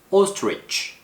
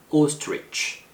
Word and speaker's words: ostrich: Ostrich 중간에 TR 사운드가 있어서 아스트리치 이렇게 발음하는 경우가 있는데 TR 발음은 한 번에 발음하는 거예요. Ostrich. 그쵸? Ostrich.